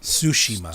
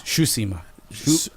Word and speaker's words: Tsushima: Yeah, but Ghost of Tsushima, is that how you say it? Tsushima. Tsushima. Suit. TSU. Oh, Tsushima.